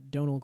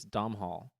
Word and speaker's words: Domhnall: I thought it was Domhnall. No, it's not actually pronounced how it's spelled.